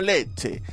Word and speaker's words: Lecce: su opido en realidad no se pronuncia leche sino leche tampoco es rosarina sino